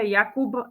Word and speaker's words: Jakub: si tam mal počuť v slove Jakub namiesto b p v slove vlak by